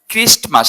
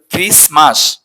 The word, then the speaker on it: Christmas: ডাইনি উচ্চারণ সাধারণত কি ডাইনি তারপর হচ্ছে গিয়ে ক্রিস্ট মাস আমরা বলি ক্রিস্টমাস উচ্চারণ করি কিন্তু উচ্চারণটা হবে না এ উচ্চারণ ক্রিসমাস ক্রিসমাস খেয়াল করো ক্রিসমাস থাকবে ক্রিসমাস অর্থাৎ বড়দিন